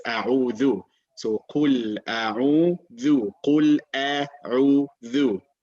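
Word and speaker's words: أعوذ: All right, it's not a'uzu, it is a'udhu.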